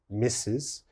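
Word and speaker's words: Mrs.: the first one mrs mrs is pronounced mrs misses and mrs is used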